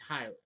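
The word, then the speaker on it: Hüller: Yeah, it's not Huller. It's Hyler.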